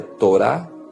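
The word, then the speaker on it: תורה: da vida humana a própria palavra lei Como já falamos no hebraico se pronuncia Torá fala em guiar alguém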